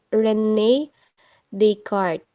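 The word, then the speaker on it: René Descartes: So ipo-pronounce natin siya as Rene Descartes.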